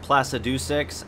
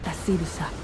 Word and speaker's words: Placidusax: Like how Placidusax isn't pronounced Placidusix. I didn't find that out until I talked to the dragon lady. Placidusax. Fuck, man, so many people